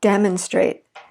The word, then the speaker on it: demonstrate: How about demonstrate? The stress is on the first syllable, but then we're going to add TION, and notice that we're going to shift it.